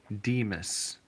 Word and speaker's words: San Dimas: here you know uh the correct way to say it is Demas Demas like San Dimas High San Dimas High football